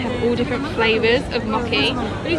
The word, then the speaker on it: mochi: Mochi. Mochi. Mochi. Yes. Mochi. It's actually quite funny because it's Japanese, mochi. So it's a little bit different pronunciation.